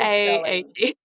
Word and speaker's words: Rahe: Rahe.